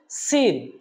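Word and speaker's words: سين: হরফ তারপরের হরফটা হলো সিন সিনটা শক্ত করে আমরা উচ্চারণ করবো এরকম একটা সাউন্ড আসবে সিন যখন আমরা বলবো এরকম একটা এরকম একটা সাউন্ড আসবে তাহলে বিশুদ্ধ করে সিন হরফটা আমরা বলতে পারবো বলুন আমার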